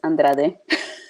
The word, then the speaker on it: Andrade: it's Andrade. Oh, okay. Like I said, Andrade. you don't have the accent, so.